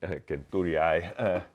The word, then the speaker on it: centuriae: Centuriae. There's no soft C in Latin, so centuriae.